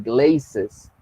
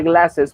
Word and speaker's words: glasses: manera y no es glazes. Entonces, esa es la situación con esta palabrita. Se pronuncia glasses porque tienes la letra A seguida de dos consonantes.